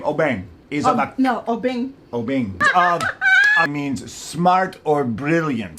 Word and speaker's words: Obeng: A user from Ghana has said that the name Obeng is No, Obeng.